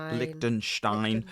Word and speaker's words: Liechtenstein: Liechtenstein.